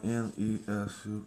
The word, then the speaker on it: Nesu: which is pronounced like N-E-S-U, Nesu, and then let's draw.